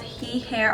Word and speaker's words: Heahair: from a company called he hair on Amazon I think that's how you pronounce it's h EA hair